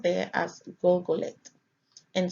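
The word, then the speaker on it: Gulgoleth: It is pronounced there as Golgoleth and spelled Gimel Lamed Tav, or GLGLT.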